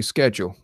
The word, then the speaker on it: schedule: Anyway, Skip says we don't schedule, we schedule. Yeah, well, that's because you say it wrong. There's a reason why there's a C in there. And it's a French word anyway.